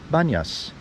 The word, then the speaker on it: Banias: corrupted by the Arabic in Arabic it's hard for Arabs to pronounce be at the beginning of words so pontius becomes bun yes so what we have